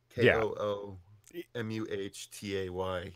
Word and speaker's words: Kumite: Kumite. Yeah. It's Mate. Don't argue. Yeah, if you read it how I wrote it, you can't mispronounce it. So KOOMUHTAY. You can't mispronounce it that way.